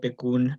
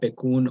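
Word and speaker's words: PCUN: thanks jamie uh yes he said it right beccoon um and hi folks uh my name is i use he him and pronouns i'm the policy manager at bakun oregon's farmworker union um and today i'm gonna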